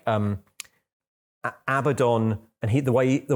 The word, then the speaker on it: Abaddon: which was like um Abaddon and he the way the way the commenter wrote it was like this should be this should be pronounced Arbor dawn like Dawn when the sun comes up and I was like